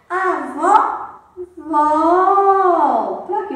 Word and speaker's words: vovó: Vovô tem o som fechado. Vovó tem o som mais forte. Mas qual é a primeira sílaba da palavra vovó?